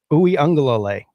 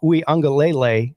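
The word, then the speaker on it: Uiagalelei: is gone so it's a guy named DJ oui angal um say that say that again I I was wondering oui angal ouie angal dude how long did it take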